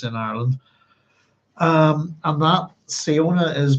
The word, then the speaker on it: Siona: Um, and that Siona is pronounced. So the SI in Irish is like sh.